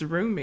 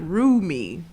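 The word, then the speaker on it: Rumi: is what it's roomy exactly but not room me it's room me room me yes hers is roomy it's r u Mi I roomy oh yeah I know it ain't spelled like that but it sound like that it does I mean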